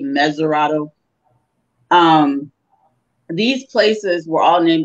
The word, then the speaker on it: Mesurado: is now Cape Mount Mesurado, which we mispronounce Montserrado, which was originally called Cape Mesurado.